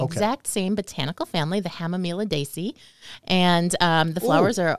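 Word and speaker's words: Hamamelidaceae: which is known botanically is hemamilis is the Hama miladesi hamamila Desi yes so the hemelidacy family two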